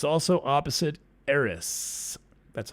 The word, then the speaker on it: Eris: in particular exactly square saturn it's also opposite eris that's how you say it and mars is